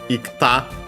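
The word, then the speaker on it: 行った: But then instead of the k falling like usually for verbs iku the i fell ikta it's good to pronounce so actually became ikta.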